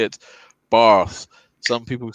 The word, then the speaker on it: Bath: I mean, I'm like, it's spelt Bath. Come on. Yeah. But it's Barth.